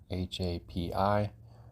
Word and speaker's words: Hapi: The first one that we're going to look at here, HAPI. If you look at this, you'll understand that pronouncing this is the same as HAPPY.